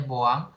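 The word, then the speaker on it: Bouin: kita larutan buang tadi jadi itu tulisannya Boin bacanya bawang larutan yang itu bisa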